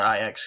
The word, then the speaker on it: Ajax: a website that uses IX Ajax whatever Oh said I X because i watch soccer the soccer team it's called it's pronounced IX even though it's spelled exactly like Ajax so let me close